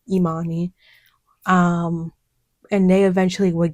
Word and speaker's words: Imani: and I'll be like, "No, it's pronounced Imani." Um, and they eventually would get it right. But there were other professors who just didn't care. They would just say, "Okay, I'm on him."